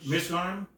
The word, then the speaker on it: Mizraim: How do you pronounce it? For Zeram, I mean, you should say Zeram. Mizraim?